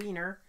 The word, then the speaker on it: Weiner: It's spelled Weiner, but it's pronounced Weiner.